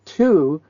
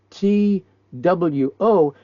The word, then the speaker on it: two: the next number is two t wo there's a w in two but they don't pronounce it I said wait a